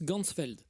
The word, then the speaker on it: Ganzfeld: de la vision et en allemand champ entier ça se prononce gansfeld h ainsi il va créer